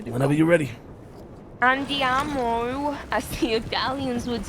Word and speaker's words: andiamo: It's like you're saying with an I instead of a Y.